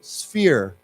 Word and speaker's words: sphere: again this fear remember the pH has a f sound so sphere sphere okay and then as